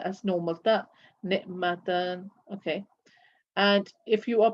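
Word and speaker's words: نعمة: So when you are continuing, you pronounce the letter as normal ta, ni'matan, okay. And if you are pronouncing it as a ha when stopping, for example, I will say ni'mat, rahmat.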